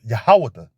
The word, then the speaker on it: Judah: tribe and they're the tribe of Judah which is pronounced yahawada the most high name